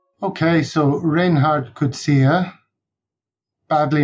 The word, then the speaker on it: Coetzee: i'm ready kevin thanks okay so reinhardt could see her badly mispronounced as reinhardt kotzie by most of us yeah that's pretty speculative